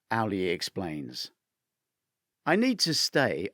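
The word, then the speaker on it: Auli'i: Owl, as in the bird. Lee, then another Lee. Owlie.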